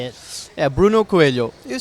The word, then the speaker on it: Coelho: Yeah, Bruno Coelho.